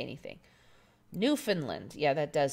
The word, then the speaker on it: Newfoundland: Newfoundland. Yeah, Newfoundland. Mandela Mile is correcting my American pronunciation. Yep. Typical American, we don't know how to say anything. Newfoundland.